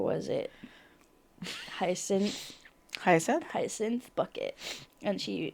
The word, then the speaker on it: Bucket: And her name was Bucket, but it's pronounced Bouquet.